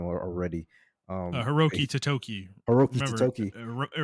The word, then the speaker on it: Totoki: the Japanese I forgot his name already, Hiroki Totoki. Hiroki Remember, Totoki. it rhymes.